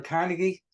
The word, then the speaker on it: Carnegie: anybody's to found of Dale Carnegie or Dale carnegi depending on how you say it there's a great